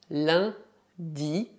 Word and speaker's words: lundi: como VIOS na frç primero dia de semana lundi Sega fera para prononciaven Combin u n et la son nasal